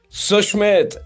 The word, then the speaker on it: Susmit: All right, for everybody else, for the world to know, his name does not have the sh sound, it has the s sound.